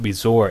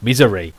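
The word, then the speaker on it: Mizore: the whole entire time it's not bizarre it's misery i cannot believe that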